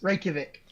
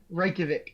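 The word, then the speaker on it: Reykjavík: right it is that's exactly what it is reykjavik reykjavik that's outside right there stands a rock known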